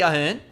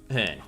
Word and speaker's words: Hearn: So we just need Lockie Ahern. Lockie, I don't want to get I got his name wrong again. Lachlan, it's Lockie Hearn.